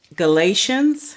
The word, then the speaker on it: Galatians: Corinthians right then there's second Corinthians then also Galatians which is the next book g Galatians g l I'm sorry g a l a t i a n s Galatians and one of my favorite books the